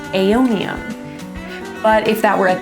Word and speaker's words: aeonium: I'm gonna go ahead and put the AE together to make an A sound for aeonium.